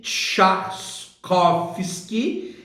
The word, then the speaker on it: Trzaskowski: a faltes asus copos que pronuncia-se chatos koffsky entre mulheres jovens e